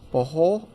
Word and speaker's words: Bohol: Bohol. They say you got to end with a H in Tagalog.